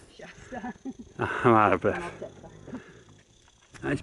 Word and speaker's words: Shasta: Shasta.